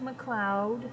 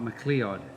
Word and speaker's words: MacLeod: where's the name from it's pronounced McLoud MH not mleo um in the you